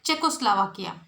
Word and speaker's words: Czechoslovakia: How you should pronounce it? Czechoslovakia.